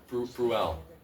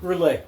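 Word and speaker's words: Brûlé: And um and so um does anyone know the story of Etion Bruel? No. And maybe I'm pronouncing that wrong. Brulee.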